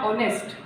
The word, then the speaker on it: honest: ऐसे ही है HONEST, तो इसमें H जो है वो साइलेंट है, ये बना ऑनेस्ट।